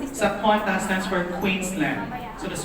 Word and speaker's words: Qantas: The right way to say it is Qantas kasi ibig sabihin ng Qantas is Queensland and Northern Territory Air Services. So Qantas.